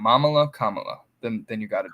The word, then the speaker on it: Kamala: ways I call her Camila I know that song it's Kam M just just just rhyme it with Mom mamala Kamala then then you got